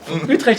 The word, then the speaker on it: Utrecht: From You pronounce it very well. Utrecht in the Netherlands.